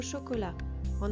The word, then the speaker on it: chocolate: Si on voit le mot chocolat, en anglais ça s'écrit chocolateux. À l'oral, cela se prononce chocolate. Ici, le O du milieu devient quasiment inexistant et le A final devient un I.